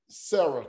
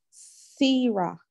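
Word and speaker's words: שָׂרָה: Sira. No. Okay. You got it almost right. But the sin is pronounced what? It's just an S. So okay. It's just an S and not SH.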